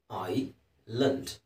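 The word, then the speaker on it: island: ಐಲ್ಯಾಂಡ್. S silent ಇದೆ. ಐಸ್ ಅನ್ನೋ ಹೇಳೋಗಿಲ್ಲ.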